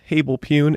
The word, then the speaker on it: HABLEPWN: That's HablePune if you spell it out and say it.